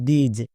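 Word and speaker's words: these: এই ওয়ার্ডটির উচ্চারণ করছো দিস। দিস উচ্চারণ হবে না। এর উচ্চারণ হবে দিজ।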